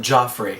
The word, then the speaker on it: Jeffrey: Now you play Jeffrey. Yes. Oh, he pronounces it Joffrey.